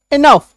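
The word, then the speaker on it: enough: से आ गया इनफ तो मेन बात यह है कि अगर आप किसी शब्द के लास्ट में ओ यू जीी एच देखते हैं तो इसके उच्चारण में क्या होता है फ का साउंड आएगा ओ यू गह का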